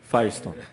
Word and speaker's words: Firestone: Sulamita Sulamita em português Firestone Firestone como o pneu Firestone né Eh Na verdade